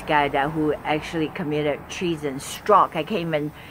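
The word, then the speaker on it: Strzok: his name this guy who actually committed treason struck I came in saying that name Peter strg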